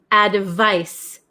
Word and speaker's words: advice: So number seven is advice. Advice. Advice. It has a C and it's pronounced like s sound.